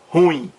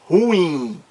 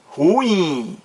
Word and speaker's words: ruim: errado por quê Porque essa palavra é oxítona e não monossílaba ela tem duas sílabas e não apenas uma e a pronúncia está